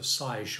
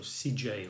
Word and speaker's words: SiGe: It's SIGE, so SIGE or CJ, or depending on where you're from.